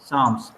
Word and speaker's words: Psalms: The Book of PSALMS, साम्स, PSALM, P इसमें silent है, साम बोल।